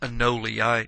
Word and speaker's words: anole: The anole usually, and actually you'll hear it pronounced anole. I tend to say anole, but basking anoles are